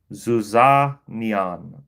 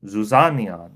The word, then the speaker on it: zizania: Zizania. Zizania, right?